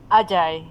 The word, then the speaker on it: Ajay: Is this just pronounced AJ? Or Ajay? Ajay, yeah, Ajay.